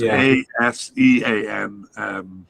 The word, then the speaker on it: ASEAN: It's ASEAN, so it sounds like Asian.